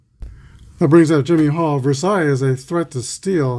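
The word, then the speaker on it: Versalles: Zoilo Versailles. Versailles, that's how it's pronounced.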